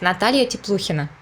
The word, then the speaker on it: Natalia Tepluhina: because this is Russian so I pronounce it's Natalia tip Luciana okay can it can you repeat he says what Natalia tip Luciana oh you do better